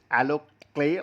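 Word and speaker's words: AlloClae: She said the products he found alo clay pronounced alo clay like the earthy sculpting material is quick to administrator nicknamed the lunchtime boo job.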